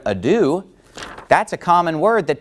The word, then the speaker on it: adieu: pronounce the word adieu he pronounces it a doe well obviously if you say a doe no one's going to know what you're talking about but if you say the word adieu that's a common word